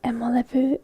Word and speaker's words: emolevy: last hardware related word, and that would be emolevy. Oopsies, I misspelled it. Don't tell anyone. So let me just spell it out for you so that you don't get confused by my writing. E-M-O-L-E-V-Y.